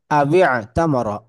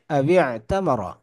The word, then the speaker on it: أو اعتمر: আবিআ তামারা, আবিআ তামারা, এইখানে আবি। মিডিলে যে আলিফটা দেখা যাচ্ছে এটার কোনো উচ্চারণ হচ্ছে না। এই ওয়াও আচ্ছা, ডিরেক্ট আইনকে ধরছে। আবিআ তামারা।